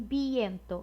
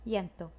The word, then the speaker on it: viento: Então, esse V, ele vai ser pronunciado com som de B, mas é um B bem sutil. Não é avión, nem viento, é algo mais sutil. Avión, viento.